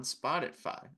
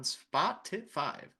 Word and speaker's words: Spotify: what's it called on Spotify on spoti five don't know why I pronounced it like that Spotify leave that ratings all